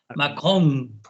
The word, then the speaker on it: Macron: Ojo, Manolo, pronuncia bien la N final. Macron.